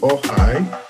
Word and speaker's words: Okhai: Well, it's actually Okhai. But, I'm from Edo State in Nigeria and so in my language K is silent.